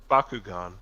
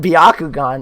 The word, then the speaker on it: Bakugan: no way how do you pronounce it andre i'm guessing it's just baku what'd you say andre bakugan bakugan that's what i said but he said biaku gone now i'm curious how did some people pronounce